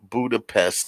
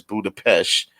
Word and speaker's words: Budapest: You know, they also made fun of the fact that she pronounced Budapest as Budapest, and because remember in the very first Avengers